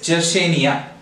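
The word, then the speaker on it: Yersinia: Nia does this now here in the spelling written is ye are SI and IA but how do you pronounce it it is Jesse Nia okay the second one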